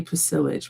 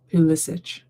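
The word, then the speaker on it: Pulisic: I always want to say Pacilich, but it's Pissic.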